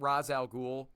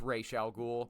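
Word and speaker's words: Ra's al Ghul: By the way, it ain't Razal Ghoul, it's Ray Shall Ghoul. Not only is that the phonetical cor phonetically correct way to pronounce that name, uh it sounds so much better.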